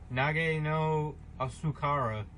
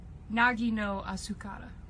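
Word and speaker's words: 凪のあすから: The Japanese is, I'm gonna butcher this, Nage no Asukara. Rude! Nagi no Asukara. Naji. That's how you pronounce it.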